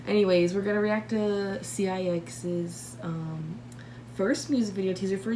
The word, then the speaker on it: CIX: I just do it on video because people are like, it's pronounced CIX. I'm like, I know, but I call them 6 because why would I pronounce every letter when I can just say 6?